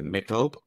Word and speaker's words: méthode: And of course, I'm not pronouncing that the French way. Méthode, is that correct?